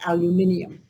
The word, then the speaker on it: aluminium: And I just love to say it the way the British say it, aluminium.